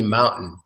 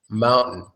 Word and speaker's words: mountain: complicated but this is definitely mountain mountain sitting like fountain like a fountain we say fountain that's a beautiful mountain